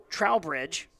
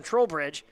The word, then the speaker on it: Trowbridge: and you also got Trevor Trowbridge I said that right trollbridge nope said it wrong the first time trollbridge 174 yards receiving but